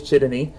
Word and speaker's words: Csotonyi: I mispronounced his name earlier, or in the show, but his name is Julius Chitany.